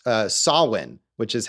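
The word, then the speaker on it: Samhain: because that's that's how it's spelled but it's pronounced uh sawin which is how she pronounces it in the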